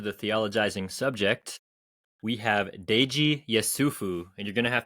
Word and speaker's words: Deji Yesufu: welcome back to the theologizing subject we have Dei yufu and you're going to have to tell me how bad I just butchered your name yeah that that you got